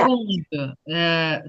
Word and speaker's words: seconde: composé parce que c'était секунду. Це вимовляється секунд. Оце не к, а г. І якщо ви швидко будете там чути, як хтось каже, воно може навіть перетворитися на згунд.